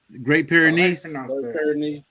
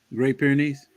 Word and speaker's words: Great Pyrenees: How do you pronounce the other dog? Great Pyrenees. Great Pyrenees.